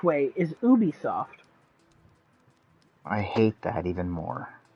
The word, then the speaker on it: Ubisoft: of people are wrong i've also heard people pronounce ubisoft i've also heard both ways the correct way is ubisoft i hate that even more yeah you would